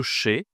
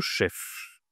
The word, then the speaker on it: chef: En gros, est-ce que je dis le che ? C'est masculin. D'accord. Le che ou le chef ? Qu'est-ce que tu penses ? Ici, je dois prononcer le F. C'est le chef.